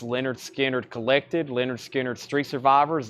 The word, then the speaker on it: Lynyrd Skynyrd: uh I also have Lynyrd Skynyrd pronounced Leonard Skynyrd collected Leonard Skinner's three